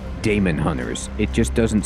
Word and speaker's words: Daemonhunters: So, the general consensus that I saw online was that this is pronounced demon hunters even though there is an A.